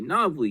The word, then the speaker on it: Novely: will shell out if Nina says she's gonna Novely.